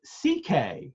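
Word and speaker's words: Székely: says sue Kelly is pronounced CK just like louis c.k um it's pronounced CK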